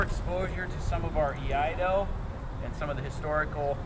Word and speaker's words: Iaido: I kind of jokingly say Iaido is the most difficult martial art from Japan to pronounce for Westerners. Try it once. Iaido.